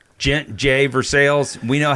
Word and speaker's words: Gex: going to say Jay so it became J J Versailles we know how to pronounce the French language right okay but so